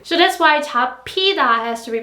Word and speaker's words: 잡히다: So that's why 잡히다 has to be pronounced like 잡히다, 잡히다, the p sound, because piut is followed by hiut.